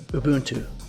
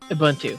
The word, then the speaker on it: Ubuntu: here according to this this is how you pronounce Ubuntu Ubuntu Ubuntu Ubuntu just like he said in that video